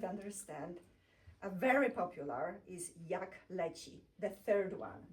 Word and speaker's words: jak leci: A very popular is jak leci, the third one. Jak leci.